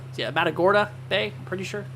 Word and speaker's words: Matagorda: up there just north of uh the the metora uh the matora yeah Matagorda Bay I'm pretty sure how you say it